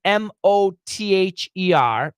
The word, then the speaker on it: mother: So going back to the question, M-O-T-H-E-R, M-O-T-H-E-R, the way we explain that pronunciation is mother, mother.